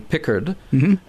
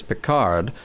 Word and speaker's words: Picard: Because you have her calling him Pickard, and you have, as most everybody else says Picard, sort of an Americanization of that.